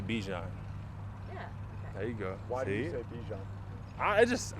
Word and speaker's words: Bijan: sevens first for you the proper way to say this Bichon but I say Bijan there you go I